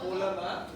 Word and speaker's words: phloem: You all look at how it's spelled and then you pronounce it as okay? Uncle, it's not the same thing. Okay? If you pronounce it as phloem, then this is how you spell it. Okay? So it's not phloem, it's phloem.